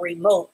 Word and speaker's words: remote: And that E is silent.